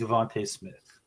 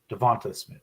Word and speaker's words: DeVonta Smith: hurts person I'm gambling on we're gonna be Devonte Smith Devonta Smith sorry say his name why well if they